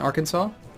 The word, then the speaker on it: Arkansas: in Tamaro tamaroa in Arkansas isn't that weird I actually know how that's pronounced because it's in the United States Aransas it's Arkansas I don't know why doesn't look like Arkansas guess we Grant Aid